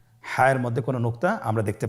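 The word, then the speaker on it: ح: হায়ের মধ্যে কোনো নোক্তা আমরা দেখতে পাচ্ছি না। হা হরফটি কীভাবে উচ্চারিত হবে? হা হরফটি উচ্চারিত হবে কণ্ঠনালীর মধ্যখান হতে। গলা চিপে ধরে আপনি উচ্চারণ করুন।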